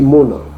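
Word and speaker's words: Amnon: Et Mona, au lieu de dire Amon, on vous a dit que le Aleph et le Aïn sont souvent sourds. On lit Mona.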